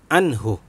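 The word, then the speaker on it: عنه: Jadi dibacanya jelas, tidak boleh ditarik, tidak boleh mendengung atau samar. Jadi tidak boleh anhu. Nah, ya. Jadi dibacanya anhu.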